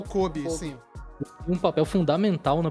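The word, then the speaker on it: Koby: A gente acabou não citando aqui, me ajudem com a pronúncia, Kobe ou Kobe. O Kobe, sim.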